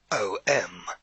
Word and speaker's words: Om: the golden halo or nimbus around the head om spelt o m this is known as a word of power